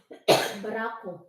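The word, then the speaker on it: barako: Batangas coffee from bangas do you know that barab is that how you pronounce it barup barup coffee huh baraco baraco baraco van Canada right now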